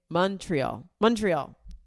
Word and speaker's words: Montreal: Somebody online said you say it like Mon is like Monday. Montreal.